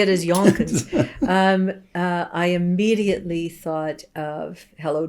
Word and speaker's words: Yonkers: But it also rhymes with bonkers.